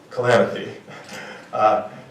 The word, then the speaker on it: Kalanithi: Lucy, her last name is pronounced Kalanithi.